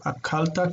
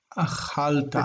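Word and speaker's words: אָכַלְתָּ: Akalta kind of kills. K. We're going to say ch. And it's like a romantic sound. Ch. Achalta.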